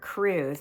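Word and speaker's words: krewe: Once the parades begin, you're going to see the different crews. Now, crews are the people that make up the parade, and it's spelled K-R-E-W-E. K-R-E-W-E, yeah. Not C-R-E-W like you would think.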